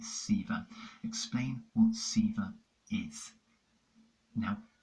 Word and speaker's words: Sewa: explain what sewer receiver reads sewer but the actual how you say it Seaver explain what Sivir is